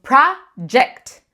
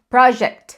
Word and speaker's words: project: A gente tende a pronunciar só project. Não é G. Não é. Tira isso da tua cabeça. Treina para falar sempre com som de J, para o G e para o J.